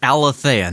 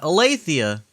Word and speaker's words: Alathea: Pronounced Alathea, not Alathea. Alathea, okay, cool.